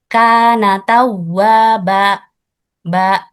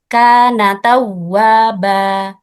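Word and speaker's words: كان توابا: Ee sebagai contoh yang salah biasanya seperti ini. Kan tawa ba itu di akhir ayat ada akhiran hamzah. Padahal ee huruf mad di akhir ayat itu ee harus suaranya ee dibuka dan ee suara habis di udara. Seperti ini contoh yang benar.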